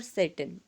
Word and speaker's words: Tsetan: और सेटन, TSETAN, सेटन देखो यहाँ पे टी है वो क्या रहेगा, साइलेंट रहेगा बच्चे, सेटन, हम टी साइलेंट रखेंगे।